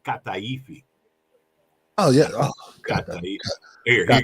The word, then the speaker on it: kataifi: were eating is called kataifi. Oh yeah, kataifi. Here, you got to say it this way because you're going to be kataifi. So it's not a ka, it's a ga.